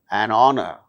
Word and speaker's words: honor: For instance words beginning with a silent H in the words hour, an honor, an honest man, an heir, an honorable man. In all these cases, these words begin with H, which is a consonant